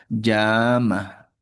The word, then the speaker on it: llama: Por ejemplo, la misma palabra para un castellano blendés llama. llama. Pero para un eh quechuablante, el sonido un poquito más fuerte y alargada será llama. Llama castellano y en la propia lengua llama.